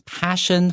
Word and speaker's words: passion: Coraline, Neil Gaiman,developed his passion for literature in libraries. 好，先告诉你说 Coraline 这本书的作者呢叫 Neil Gaiman. 好，他呢非常非常厉害，写了非常非常多脍炙人口的作品哦。他怎么样去展现出慢慢培养出对这种写作文学的热情呢？原来是在图书馆里头的。 Okay, let's look at the word passion.Now, P-A-S-S-I-O-N has a pretty special pronunciation. This S-S, fa, S-H.